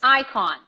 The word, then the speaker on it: icon: end is there and the eye is pronounced like an eye not eat so it's Ikon Ikon Ikon Ikon Ikon